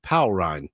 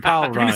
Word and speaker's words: Paul Rind: Powell Rind. Powell Rind. Yeah. That's right, Powell Rind.